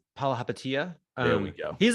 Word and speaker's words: Palihapitiya: And I know you want to focus more on the Warriors response to, and I can't even pronounce the GM, the owner's name, the co-owner's name. Palihapitiya.